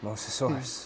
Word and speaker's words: Mosasaurus: Mosasaurus. Correct pronunciation.